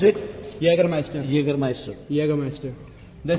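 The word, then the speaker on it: Jägermeister: how you pronounce it Yager Meister Jager Master yag Master the spelling is starts from the J but the pronunciation is Yager master so Yer Master we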